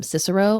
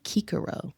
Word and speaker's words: Cicero: My favorite Latin tidbit is that they didn't have a soft C. So we've been calling him Cicero all this time, and it's actually Cicero.